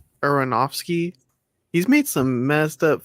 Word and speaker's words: Aronofsky: Aronofsky.